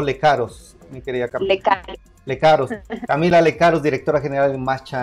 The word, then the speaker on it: Lecaros: Muy bien, pues Camila, ¿se pronuncia Lecaros o Lecaros, mi querida Camila? Lecaros.